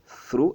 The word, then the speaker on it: through: Alors, ce que vous faites, c'est que vous placez votre langue entre vos dents, through, et vous essayez de faire sortir de l'air de votre bouche.